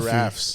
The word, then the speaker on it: giraffe: giraffes. Yeah, that one. Giraffes. The Giraffes, giraffes, it's dude.